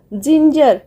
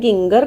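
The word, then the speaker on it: ginger: G-I-N-G-E-R, जिंजर कहीं हमें गिंगर कहबानी.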